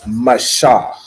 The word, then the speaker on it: Mashah: It's Mashah, right? So it's M-A, Ma, and then S-H-A-H, Shah, Mashah.